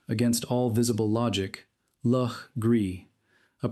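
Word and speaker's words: Legare: It is the name most likely to cause confusion in modern South Carolina where it is pronounced against all visible logic l Gree a pronunciation that residents of the state learn early as a test of whether a person actually belongs.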